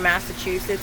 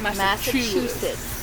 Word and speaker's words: Massachusetts: Well, see, she said a T. I say no. She said CH. Massachusetts.